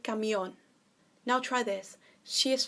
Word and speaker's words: camión: is el camión so because the accents on the oh you've got to stress that point el camión now try this she